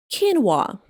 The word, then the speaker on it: quinoa: It is pronounced like quinoa.